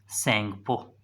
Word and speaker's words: Tsangpo: Yarlung, Yarlung सेंगपो। याद रखिएगा, अगर हम बात करें येरलिंग सेंगपो की, येरलिंग सेंगपो की, तो इसके नाम में टी साइलेंट होता है और कई बुकों में